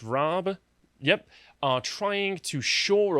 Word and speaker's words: Raab: dominic raab in particular i think his name is pronounced raab yep are trying to